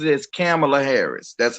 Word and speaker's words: Kamala: kamala harris or kamala harris and um she pronounces it as camila harris that's how she says it but i